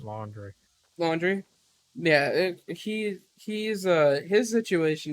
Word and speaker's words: Laundrie: It's Laundrie. Laundrie. I think you pronounce it laundry.